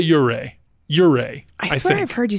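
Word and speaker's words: Ouray: uray you say I I would say uray uray I I I've heard you say uray I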